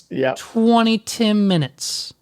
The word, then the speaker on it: 20TIMinutes: It's 20TIMinutes. Yep, 100%. 20TIMinutes.